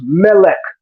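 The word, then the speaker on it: מֶלֶךְ: not the word for King in Hebrew is Melech Melech the word for Angel is malach the only difference is The Vowel Shift but in La Shimon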